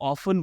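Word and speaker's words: often: नहीं ऐसे प्रोनाउंस करो, ऑफन बोलो, ऑफ्टन नहीं। लेकिन लेट मी टेल यू, ये दोनों ही बिल्कुल करेक्ट और एक्सेप्टेबल प्रोनाउंसिएशंस हैं।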